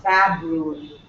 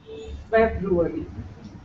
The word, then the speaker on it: February: this one February ferary but the pronunciation is there is no a February not fabruary February and this one probab